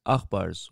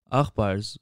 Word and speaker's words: Aghpar: were often labeled as akbars while they lived in soviet armenia akhbars which is a play on the western armenian pronunciation for brother yakber was used as